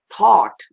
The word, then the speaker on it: thought: the sound of or and thought becomes t h o u g h t becomes thought and rhymes with not see it's getting quite